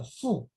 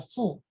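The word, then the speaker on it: 父: The character "fù" "f u" in older Chinese should pronounce that as "bā".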